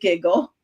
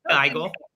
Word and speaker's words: Gigl: pronounced your last name is it giggle it is not it is GLE GLE got it I'm like